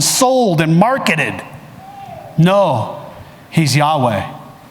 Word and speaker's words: Yahweh: name is I am the best way that people know how to pronounce it is Yahweh in the Hebrew and the interesting thing